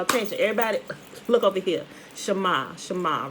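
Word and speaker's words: שָׁמַע: i looked at it and we call it shimmer but it's actually pronounced shama right shama you know so it i guess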